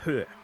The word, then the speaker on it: Höhe: How do we pronounce that long straight? Doddengerhoa? Is that what that is? Did I get that right? Höhe.